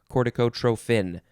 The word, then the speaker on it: corticotrophin: oh instead of tropin you can pronounce it and spell it trophin uh with a ph although is it uh